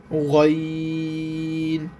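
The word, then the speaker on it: غين: আইনের উপরে যখন এক নুক্তা থাকে তখন অক্ষরটার নাম হবে গাইন।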